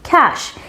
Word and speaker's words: cache: সো এটার সঠিক উচ্চারণটা হচ্ছে ক্যাশ। ক্যাশ, ক্যাশ। সো এটাতে দুইটা সিলেবল আছে। প্রথমে যে সাউন্ডটা হবে সেটা হচ্ছে গিয়ে ক্যা, ক্যা। তারপরে যে সাউন্ড সেটা হচ্ছে গিয়ে শ। সো দুইটাকে একসাথে বললে ক্যাশ, ক্যাশ, ক্যাশ, ক্যাশ।